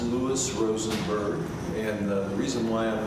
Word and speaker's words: Lou Rosenberg: for circuit court judge well my name is pronounced Lewis Rosenberg and the reason why I'm running for circuit